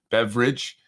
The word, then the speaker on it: Beveridge: name of Andrew Beveridge, not spelled like beverage, but more like Bev and Ridge Hill. Beveridge.